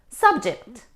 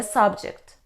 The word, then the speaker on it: subject: objected to my proposal subject subject it's a noun we stress on the first syllable it means a topic or a person for example let's change the subject it's very boring for me or what's the subject of today's lesson but when we stress on the second syllable we say subject subject it means to bring a contrary or a group of people under your control especially using your first